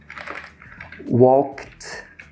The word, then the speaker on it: walked: Imagina que tem um T aqui, ó. Walked, walked, walked, worked, tá? Se escreve com ED, mas se fala com T, porque é mais fácil, tá bom?